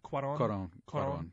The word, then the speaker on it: Cuarón: Cuarón.